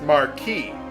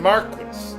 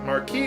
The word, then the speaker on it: Marquis: now here it's pronounced Marquee not Maris Marquee is the French pronunciation so we're going to pronounce it that way for this LP although sometimes I might pronounce it Marquis because I've been playing